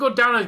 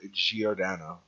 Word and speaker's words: Giordano: players but i think godanna's going to put some work in when he finally gets a full season to show himself i'm pretty i'm pretty sure it's pr pronounced giordano okay man that has